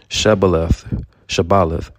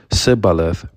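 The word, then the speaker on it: shibboleth: Shabaleth. The three turned white with fear. One by one, they carefully pronounced Sibaleth.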